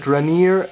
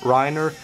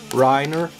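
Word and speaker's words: Reiner: flakes uh to the state he called it reneer it's actually pronounced rhina or Riner re e i n e r Riner and this is it this is how it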